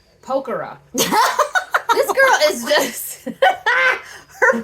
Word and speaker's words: Pokhara: So now we're here in Pecora. Pokhara. This girl is just... her pronunciation...